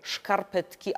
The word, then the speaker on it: szkarpetki: Ginie dawne zapożyczenie niemieckie fuzekle, a pojawia się w to miejsce polskie, aczkolwiek wymawiane z niemieckim szy na początku, bo szkarpetki albo szkarpety.